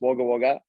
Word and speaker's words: Wagga Wagga: yeah you guys obviously not from Australia it's pronounced Wagga Wagga um it's good it's good um it's just